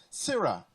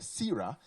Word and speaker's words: Sira: Sira, pronounced S-E-E-R-A, Sira, is a multi-talented and artistic young lady with a deeply rooted love for music.